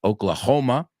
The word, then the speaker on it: Oklahoma: Bueno, la H se pronuncia en inglés. Oklahoma.